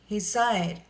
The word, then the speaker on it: Hesyre: We may pronounce at Hesy-Ra.